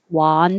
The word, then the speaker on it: wander: no direction or purpose one your jaw is very closed one wonder and 19 wand you have to open more wand okay let me say